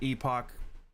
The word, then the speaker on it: Last Epoch: Um, you know, there's last epic just it's pronounced epic, but everyone calls it epoch.